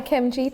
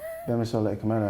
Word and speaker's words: Akemnji: Like- I'm gonna bait her up, but Bemi Akemnji has it on her email signature. Oh wow! Yeah. Like what? The pronunciation. The G is silent, not absent.